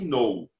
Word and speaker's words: know: que eu falei gente algumas palavras começa com k e o k você não pronuncia é isso aqui ai que nou ai que não significa